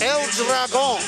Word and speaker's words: El Dragon: El Dragon. You pronounced it absolutely correctly.